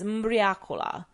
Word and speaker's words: mbriacola: Locally, it's known as mbriacola, which when pronounced in the local dialect sounds similar to ubriaco, or drunken.